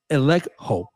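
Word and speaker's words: ἐλέγχω: Now, the word expose in Ephesians 5, 11 is the Greek verb elekho. Elekho is spelled E-L-E-G-C-H-O, which translated literally means to bring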